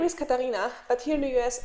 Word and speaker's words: Katarina: i'm actually kate because katarina no one really understands it and they say either or is it catalina which is like the spanish pronunciation kind of or something else the